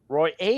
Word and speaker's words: Royer: So, for my two unit play, Valentin Roy plus the seven and a half games against Novak Djokovic at the French Open. Roy A is how you pronounce that.